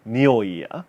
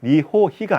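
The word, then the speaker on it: におい: 이치나카와 모노노 니오이야 나츠노 츠키. 이치나카와 모노노 니오이야, 니호히가 아닙니다. 발음할 때는 니오이, 지금처럼 니오이야 나츠노 츠키.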